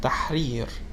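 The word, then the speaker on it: تحرير: it with sukun for a word like tahrir taharir which means liberation which you may know about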